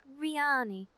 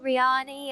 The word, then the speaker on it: Rianni: I pronounce it Riani. I've heard people say it other ways as well, and I don't consider there to be any right or wrong with it.